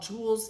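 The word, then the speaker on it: Joules: The brand is called Jewels. If you ever find it, it's a pretty quick sale. Um, it's spelled J O U L E S.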